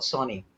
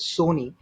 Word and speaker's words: Sony: But when you actually study about Sony, I didn't even know. I always pronounced it as Sony. It's actually Sony because there was this Right. song called Sonny Boy, which was very popular